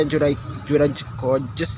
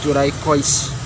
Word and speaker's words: Juraj Kojs: Kalau lihat bacanya sih susah dieja, Juraicois ya, KOJS. Tapi kalau denger orang nyebut kayaknya gampang banget ya, Juraicois.